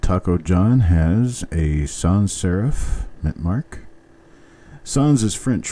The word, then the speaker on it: serif: and it is not Seraph it is not serif the word is pronounced serif it's just like Sheriff only it starts with an S instead of an sh and now coin number